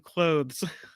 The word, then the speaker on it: clothes: husband the Afterparty live if I don't pronounce the r in February or the th in clothes yes February has a brew in it library has a rare in it and clothes has a th in it so that's how we